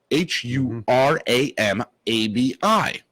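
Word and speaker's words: Huram-abi: It is actually Hiram, Huramabi. Now, me being very involved and in Sumerian tablets, I immediately pinpointed Sumerians talk with Sumerian scholar. Sumerians, like your syllables break up Huram.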